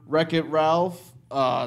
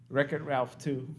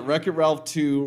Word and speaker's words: Wreck-It Ralph: NPR news show and the announcer and all the promos said the title wrong record Ralph - yeah I called it wreck-it Ralph - Ralph Rex the